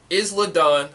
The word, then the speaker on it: Isla: You have Killer Kelly, Isla Dawn. Isla Dawn. Isla Dawn. Yeah. Oh, okay. It's like Island. The S is silent.